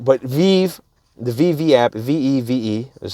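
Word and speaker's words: VeVe: know i think that uh you know the vive app with ecomi you know their their main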